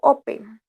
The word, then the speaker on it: open: verbo open sino tu no decimos o bien si no open open lleva entonces el acento la primera sílaba por eso en este caso no doblamos la n porque su acento base en la primera no en la segunda